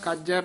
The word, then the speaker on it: कज: मनोरथ बथे सब कज कज पद भी कस के ही बोलना है नाम रंग सर्ब सुख